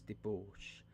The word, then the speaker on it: debauch: had slept off the fumes of the night's debauche I experienced a sentiment half of Horror half